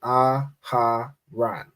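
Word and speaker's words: אהרן: go with aaran right this is a word with four letters but three syllables right aharan Right?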